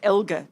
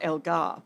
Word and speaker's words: Elgar: I mean, Dean Elgar's only lost. I have to say it the right way because he actually corrected me. Just so you know, Dean Elgar. It's Elgar, not Elgar, by the way.